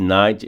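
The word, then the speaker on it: knight: Esse night é cavaleiro, se lê como se fosse noite, porque o K de N é mudo.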